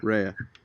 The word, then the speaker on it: Rhea: Raya, yeah. Rhea.